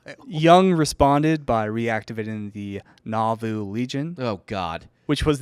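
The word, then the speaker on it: Nauvoo: ] that's wild young responded by reactivating the navu legion oh God which was the Mormon militia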